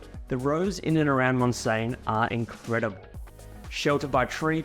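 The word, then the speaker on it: Montseny: Now, as a bit of a tip for those visiting the Girona region, the Mons, pronounced Monsane National Park is a must visit.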